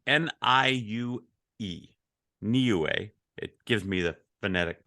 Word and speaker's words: Niue: Niue. It gives me the phonetic pronunciation because I wouldn't have known that.